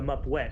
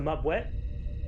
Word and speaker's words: Mupwet: captain of, let's see, I actually looked this up on Reddit to see if I knew how to pronounce this Klingon ship correctly, and it's the the Mupwet, which means hammer.